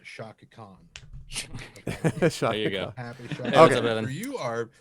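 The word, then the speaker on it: Chaka Khan: it is pronounced Shaka Khan.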